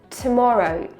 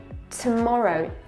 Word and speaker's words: tomorrow: Also, pay attention, the r is not pronounced at the end. Doctor, tomorrow, tomorrow. Focus on make it longer here.